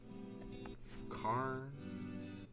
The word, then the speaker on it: Khorne: It is spelled with a K though. It's how do I spell it again? Karn. It's spelled Khorne.